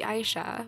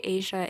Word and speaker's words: Aisha: for Miss aara the Aisha which I have apparently been pronouncing wrong this whole time time but whatever it's fine I say Asia in my head I'm going to continue